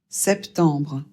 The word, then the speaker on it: septembre: Ici, le premier e doit être prononcé e. On prononce bien le p et le t. E m, quand c'est suivi d'un b, ça fait le son en et il faut prononcer le B. Et on prononce re à la fin parce que au cas où vous ne l'auriez pas remarqué, c'est pas e r mais r e donc re et non pas.